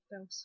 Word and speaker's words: Belsom: When you said Belsom, it sounded like a two-syllable sound. Yeah, it is a two-syllable. Belsom.